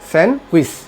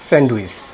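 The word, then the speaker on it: sandwich: সেন্ডুইচ কিন্তু এটা সঠিক উচ্চারণ না এটার সঠিক উচ্চারণ হলো এটা সেন্ডউইস সেন্ড উইশ সেন্ড উইশ এস এ এন ডি ডব্লিউ আই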